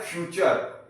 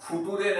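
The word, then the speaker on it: future: फ्यूचर। एफ यू टी यू आर ई क्या है? फ्यूचर। इसको हम फुटूरे नहीं पढ़ेंगे।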